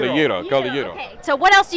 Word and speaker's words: gyro: And I was talking to you, all I know about Greek food is the gyro, but you pronounce it differently. Gyro. It's called a gyro.